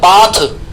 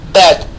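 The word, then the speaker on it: bath: अब यहां एक गलत प्रोनाउंसिएशन हम करते हैं, बाथ। बाथ वर्ड नहीं होता है, ये बैद वर्ड होता है। इसका राइट प्रोनाउंसिएशन क्या होता है? बैद।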